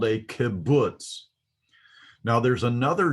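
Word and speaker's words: kubutz: i remember the term kibbutz kibbutz uh the kibbutz is pronounced as a you as in ruler so this is um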